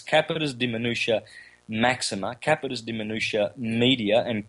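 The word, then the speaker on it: capitis deminutio maxima: forgot when i said i said it wrong last time it's capitas de minutia maxima capitus de minutia media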